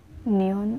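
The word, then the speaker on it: 년: Neon, or kapag binigkas mo siya, neon.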